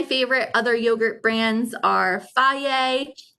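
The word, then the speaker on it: Fage: other yogurt brands are faye which is spelled f-a-g-e or ciggies um again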